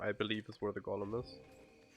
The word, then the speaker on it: Golem: believe, is where the golem is. Or is it golem? I know in German it's Golem. Which I guess would be right then, because I think it's a Yiddish word.